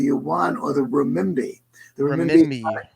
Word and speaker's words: renminbi: The renminbi, Renminbi.